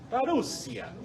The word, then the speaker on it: parousia: Parousia, ¿ya? Parousia. Ahora sí quedamos completos. Parousia. No tiene acento en la última. No. En español sí, en griego no.